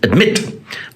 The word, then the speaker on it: admit: which it is it's admit it is not admit it is admit and the mint is the strong syllable the second syllable is a strong syllable it finishes with a